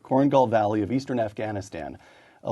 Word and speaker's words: Korengal: combat team making five trips five to the corang am I pronouncing that correctly that's right cornal Valley of Eastern Afghanistan a location that saw